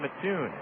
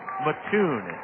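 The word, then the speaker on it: Matoon: one for four here's Ball Four from Brian Mattoon Brian Mattoon is really cut out of the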